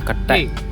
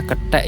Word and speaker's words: ketek: Wisata ketekan kata ini berasal dari bahasa Jawa ketek yang berarti monyet. Bacanya ketek ya teman-teman bukan ketek. Kalau ketek nanti beda lagi artinya.